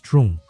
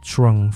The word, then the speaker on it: Trung: My name is Trung. If that's a bit tricky to pronounce, just think of Trung from Dragon Ball.